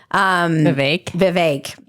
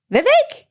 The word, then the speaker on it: Vivek: I always feel like I mispronounce his name because I heard someone say it rhymes with cake. Vivek.